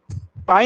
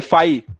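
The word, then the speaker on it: phi: अच्छा पाई, अरे पाई नहीं, फाई, PHY, पाई।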